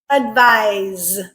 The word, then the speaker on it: advise: Word pair number 2, advice, advise. Okay, so here they did change the spelling. Advice, the noun, is spelled with a C.